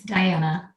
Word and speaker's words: Dianna: Did I pronounce your first name correctly? It's Dianna.